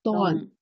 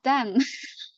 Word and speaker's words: Dawn: Yes, dawn. Dawn. Not Dan. Yeah, I know. They always call them. They always call her Dan.